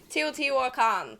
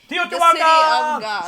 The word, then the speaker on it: Teotihuacan: the name is impossible to pronounce, but I pronounce it Teotihuacan. Teotihuacan!